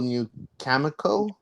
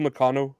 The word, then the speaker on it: Nakano: Bull New Kamiko? Bull Nakano, I think it's Nakano. Nakano. Nakano, there you go.